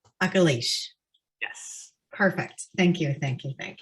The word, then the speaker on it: Akilesh: your name correctly uh very close so it's um uh oculish akalish yes perfect thank you